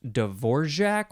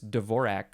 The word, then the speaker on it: Dvorak: And I always heard it pronounced Dvorak with like a GJ sound in the middle, but I think that might be the more the more non-English way to pronounce it.